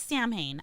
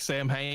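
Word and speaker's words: Samhain: Insight ourselves you know s is like Arkansas you should not why do we have to pronounce it like that it's Sam Hae I I'm with lmus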